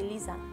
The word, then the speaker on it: Lisa: We say Lisa. Okay, yeah. Not so Lisa. The Z sound.